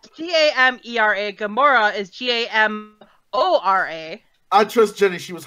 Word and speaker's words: Gamora: the only difference is that there's not Oh pronounce it Gamora I don't like this character so why the